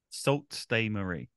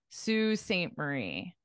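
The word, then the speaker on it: Sault Ste. Marie: blurry one more time salt stay Marie oh very close very close obviously the Marie part you got but it's a little different because this spelling is just pronounced as Su Sue Saint Marie and most likely I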